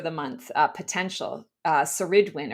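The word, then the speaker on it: Ceridwen: Uh Seridwin or Keridwin I believe is the Keridwin um is the way we pronounce that.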